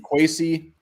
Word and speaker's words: Kwesi: the Cleveland Browns, and how to actually pronounce it. We keep saying Kwesi. It sounds like it's Kwesi. Yeah, that's what it was. Pronunciation Kwesi Dofo Mensah. Kwesi. Gotta say it 10 times.